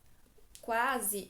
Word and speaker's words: quase: o único som né quando eu falo a palavra quase quase eu pronuncio tanto u quanto a quase então aqui já não